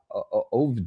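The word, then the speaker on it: Ovda: around at the Israeli OA ova I believe it's pronounced air base of this that They're the is the Chinese are providing publicly intelligence.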